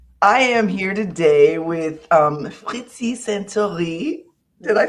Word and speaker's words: Saintoiry: In English, she says Santori, but I wanted to pronounce her name the way it's supposed to be pronounced.